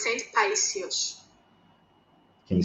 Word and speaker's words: Paisios: No, it's Saint Paisios. Can you spell it?